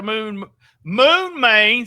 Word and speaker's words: Moon Mane: We got the Moon Main. See, I actually knew how to say it. Oh yeah, Moon Main.